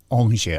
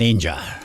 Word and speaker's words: Aungier: one and only Declan Ongier. I always say that. That's because I'm looking at it and it's spelled Aungier. It's Declan Ainger.